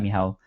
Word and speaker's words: Michał: Michał, I know how to pronounce that, Michał, which is almost spelled like Michael without the E.